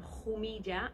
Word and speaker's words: Jumilla: So it's from Jumilla, is the way that you pronounce it. That's fine. Cool. Jumilla is what my mum says.